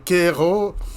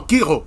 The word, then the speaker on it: Grégoire Kiro: Merci beaucoup, honorable Grégoire Kero, pour votre... non, Kiro. Excusez-moi, j'ai mal prononcé votre nom.